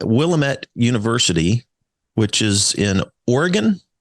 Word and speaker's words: Willamette: a professor at willemont Willamette University which is in Oregon which city is it in it's in Salem Oregon in the Capitol we call it Willamette uh and um and it rhymes with damage so let's say we